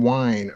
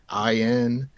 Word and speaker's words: Wein: was one of the co-creators of Wolverine, Len Wein. I don't know if that's how you pronounce his name, but I think it's Wein.